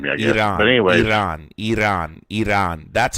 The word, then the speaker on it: Iran: You're mispronouncing it. It's Iran, not Iran.